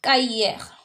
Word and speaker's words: cahier: Cahier. If you're in class yesterday, you know the C is read as K.